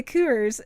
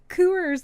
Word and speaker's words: Coors: need a drink I'm gonna get me a cures and they're like what a Coors Light like I find that's how you say